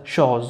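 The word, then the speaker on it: choses: اس بين حرفين متحركين أو بين دو فويل entre deux voyelles سولي زد نقرأ ز شوز و اس في آخر الكلمة لا تنطق.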